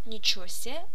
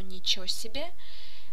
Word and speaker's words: ничего себе: Pay attention to the pronunciation of ничего себе here. It can sound as ничего себе or ничего себе, which is quite often used in colloquial Russian language.